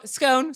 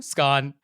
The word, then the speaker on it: scone: So it has both pronunciations in it. I mean, I don't know what this rhyme is actually supposed to tell us other than its two pronunciations. So scone, scone, whatever it is.